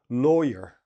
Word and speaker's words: lawyer: So this word, law, is ah. But when we're talking about the person, it's oh, law, lawyer. Lawyer. This your is the same as sir or were.